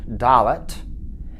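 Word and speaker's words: דלת: That's your D sound, Dalet.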